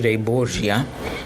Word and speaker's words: Borgia: name but I mean I guess the most accurate the most accurate would be Chester de Bourgh Jie orquesta de Bourgh Jie that's an Italian name they're actually a Spanish